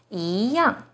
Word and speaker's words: 一样: The second E is followed by a fourth tone, yang. So E here should be the second rising tone, yi yang.